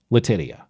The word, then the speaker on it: Letitia: Now, recall New York Attorney General Letitia James. And yes, that is the correct pronunciation, Letitia.